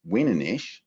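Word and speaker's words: ouananiche: to the ocean uh we often call these wanish which new finlanders interestingly pronounce wiish and these are males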